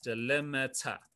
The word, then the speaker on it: delimiter: okay a delimiter um it's called this delimiter that's how you say it delimiter okay so why